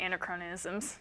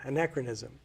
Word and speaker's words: anachronism: you don't want any in acronyms right pronouncing that correctly yeah and anachronism yeah anachronism and and anyway I